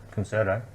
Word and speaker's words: Concerto: Concerto.